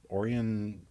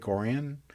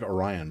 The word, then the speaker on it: Orion: it or or orian orian Lake orian it looks like Orion but they pronounce it orian because you know it's Michigan all right